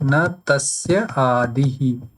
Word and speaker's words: न तस्यादिः: So if you pronounce it correctly, it will seem like na tasya adihi.